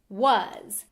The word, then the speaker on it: was: the German word was, but it's pronounced completely different. V is w, a is o, s is z. A soft S at the end of a word?